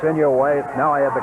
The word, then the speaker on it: Inouye: It's Inouye. Now I have the correct pronunciation.